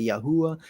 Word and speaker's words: Yahweh: to say y yah yahwa some people will say yahu I I I think yahwa is probably a more correct pronunciation but we are all